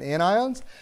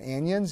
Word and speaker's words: anions: They're cations and anions. They're not cations and anions, even though it sort of looks that way pronunciation-wise.